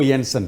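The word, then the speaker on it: Jansen: जैसे for example ये Marco येंसन जी, ये जे को वाई पढ़ते हैं और जो वी को एफ पढ़ते हैं।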